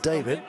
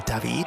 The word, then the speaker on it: David: In fact, he was his dad, David. Or David, I should say it properly.